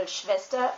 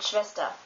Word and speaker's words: Schwester: a strong sound, and especially at the end of a word, you can barely hear it. Like, for example, Schwester, which means sister, you don't really hear the R at the end, Schwester, or Vater, which means father.